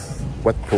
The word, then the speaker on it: Wat Pho: Wat Po, ouais, c'est ça, j'ai bien prononcé.